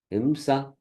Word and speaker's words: ahimsa: Bhikshur dharma samo himsa. Ahimsa it is, but it is not pronounced. A is, not there.